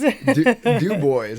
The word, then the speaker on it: Dubois: Dub Boys. Okay, Dy. And is it spelled like Dubois, but spelled Dubois?